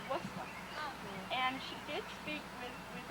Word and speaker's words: Worcester: Hattie wouldn't say Worcester, she'd say Worcester.